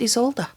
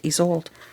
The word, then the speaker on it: Isolde: present pronounced isolde um one of you wonderful people um mentioned to me that uh it's it's pronounced isolde and so i wish i i wish i could meet my high school teacher again because she always uh pronounced it he's old there we go but